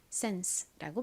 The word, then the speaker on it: sense: 가장 앞에 S는 쌍시오처럼 소리가 나죠. 그 다음 E는 에 소리가 나고 N은 니은 소리, 끝에 SE는 S 소리로 쓰여서 sense라고 발음합니다.